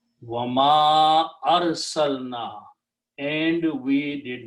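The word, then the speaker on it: وَمَا أَرْسَلْنَا: And because of this alif with a hamza, previous alif has to be pronounced with a mad. Wama arsalna, and we did not send.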